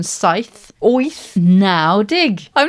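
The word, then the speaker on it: deg: Dig.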